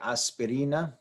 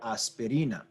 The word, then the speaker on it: aspirina: note here is that this is a word that ends in a vowel the rule in Spanish is when you have a word that ends in a vowel n or S is to stress the second to last syllable so we might look